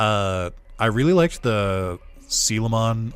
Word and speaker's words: Coelamon: I really liked the camon or coelamon if you say it phonetically I really liked the